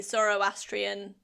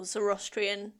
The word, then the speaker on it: Zoroastrian: But he was born into a Zoroastrian or Zorostrian. I don't I've heard it pronounced different ways. I've only heard it Zoroastrian and I still don't know what it is.